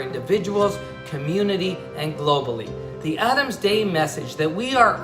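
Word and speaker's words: אדם: Adam is a word in Hebrew we pronounce it Adam.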